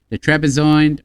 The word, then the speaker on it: Trebizond: the March 3rd, 1918, the Armenians attended the Trebizond Peace Conference. The Trebizond, how do you pronounce that?